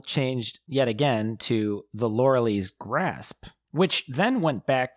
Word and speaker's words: Loreley: Yeah, that's how you pronounce that. The Loreley.